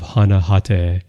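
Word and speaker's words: Hana Hatae: Also, I love this photo of Hana Hate, who played, and again, that's the Japanese pronunciation.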